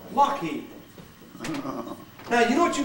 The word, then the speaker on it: Lockheed: They decided they wouldn't spell it the way it was spelled. They'd spell it the way that this was pronounced. Yeah. And this is pronounced Lockheed.